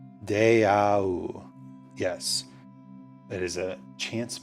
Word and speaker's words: deau: So I'm pretty sure this is, let me make sure I'm pronouncing this correctly. Deau.